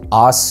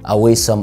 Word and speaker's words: awesome: الكلمة دي بتتقال awesome مش اويسم او عاصم، ايا كان انت بتنطقها ازاي بتتنطق awesome.